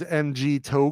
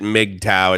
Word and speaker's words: MGTOW: This is like the Thailand's MG Toe Club. What's MG Toe? You pronounce it MGTOW. It stands for Men Going Their Own Way.